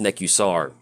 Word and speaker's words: Nekusar: dark now also with NECA soar typically is pronounced Nick you saw I think that's the correct way to pronounce it but let's go and